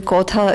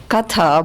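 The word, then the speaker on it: কথা: and look at me I'm assuming kotha is katha but in the Bengali pronunciation okay so this is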